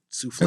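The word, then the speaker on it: soufflé: Oh, souffle. Am I saying it correctly? Oh, you said it exactly correct.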